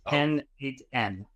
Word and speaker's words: n8n: It's pronounced N8N.